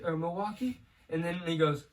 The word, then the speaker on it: Milwaukee: he's like you like milwaukee or milwaukee and then he goes actually it's pronounced millie wakay it was like it's